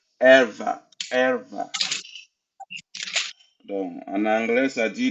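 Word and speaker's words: ערוה: Ça se prononce erva.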